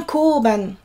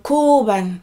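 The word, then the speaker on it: 交番: Donc, quand vous cherchez votre chemin, trouvez un koban. Donc, koban. Donc, ici, de la même manière, on a 4 syllabes. Koban. Allongez le O, terminez bien par on.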